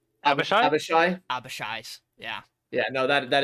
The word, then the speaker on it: Abishai: Are you sure it's not just an Ibiyashi? How do you say their fucking names? Abishai?